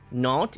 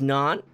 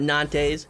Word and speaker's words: Nantes: It is Nantes Esport. You don't have to say it like I do, but just for the future, because I do this to everybody, it is Nantes. It is not Nantes.